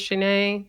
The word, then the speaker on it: Shanee: was just around like hey my name is shanae because a lot of people were pronouncing it wrong and then my second video